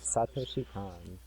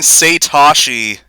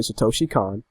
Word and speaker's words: Satoshi Kon: I say it. Satoshi Khan. That's how I've always said it.